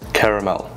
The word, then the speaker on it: caramel: Caramel. It's pronounced caramel, not caramel.